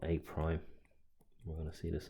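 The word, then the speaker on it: A′: The image of A apostrophe is pronounced A prime.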